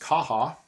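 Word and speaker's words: Caja: I think it's pronounced Kaha.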